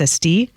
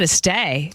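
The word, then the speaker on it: Estée: in the book that ve been saying her name wrong my whole life it's EST I know cuz we always said Este I was I I said Estee I thought the accent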